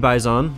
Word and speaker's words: Bizon: got we got a PP bison or bizone however you want to pronounce it antique stat track